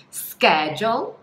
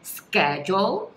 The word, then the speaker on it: schedule: Então, existem duas pronúncias aceitas. Pode ser schedule, schedule. Então, esse CH tem um som de K, né? Schedule. Ou schedule, schedule. Então, tem um som de X mesmo, né? Do CH.